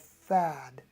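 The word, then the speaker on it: Phad: the bottom of the dippers pan it's called fad p-h-a-d so what we'll do is we'll say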